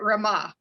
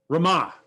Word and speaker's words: Rama: yeah absolutely thank you do you pronounce your name rama i pronounce it rama rama perfect thank you uh